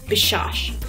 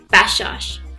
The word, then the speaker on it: Bashash: My last name, Bashash, in English, a lot of people pronounce it as Bashash. So this A is not very prominent in English pronunciation. However, in Farsi or Persian pronunciation, we really like to make this A here very prominent.